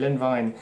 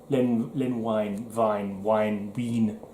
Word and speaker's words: Len Wein: And this was done by, I think it's Len Wein? How do you pronounce it? Len Wein. One of those names that I definitely recall, but couldn't tell you what he did. I think he might have done, did he do Swamp Thing? Len Wein, it's pronounced.